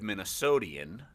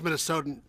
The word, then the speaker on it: Minnesotan: Because you're not a native Minnesotian. Is that how you say it? It's Minnesotan.